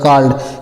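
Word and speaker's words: called: double L ई डी सी A double L डी सी ए है तो कपरा मात्र का हो जाएगा डबल एल है तो आधा ल हो जाएगा और ईडी है तो ड हो जाएगा काल्ड काल्ड मीस होता है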